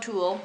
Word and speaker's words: tulle: It's called tulle. It's spelled T-U-L-L-E.